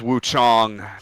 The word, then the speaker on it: Wukong: I would say Black to Myth Wukong. I would also maybe say Black to Myth Wuchong to keep it with the Cantonese pronunciation.